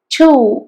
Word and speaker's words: to: പക്ഷെ ഇത് പ്രൊനൗൺസ് ചെയ്യുന്നത് അതിന്റെ സ്ട്രോങ് ആയിട്ടുള്ള ഒരു ഉച്ചാരണ രീതി ടു ആണ്.